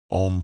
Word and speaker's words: Om: all sounds yes aam om pronounced like o in on not like Owen Home prolonging the consonant and